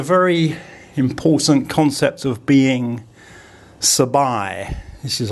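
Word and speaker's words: สบาย: And if I get Pom to write sabai, the second syllable uses that long I. So I'll get her to pronounce it. Sabai, sabai, sabai.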